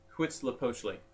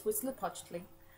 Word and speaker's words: Huitzilopochtli: The name is Huitzilopochtli. When you see an HUI like that in Nahuatl, it's actually pronounced like a W. So you don't actually have to say the H.